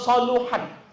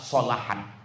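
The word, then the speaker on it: صلحت: Jadi kalau nanti ada ustaz-ustazah ceramah, idza soluhat, salah. Yang benar adalah solahat.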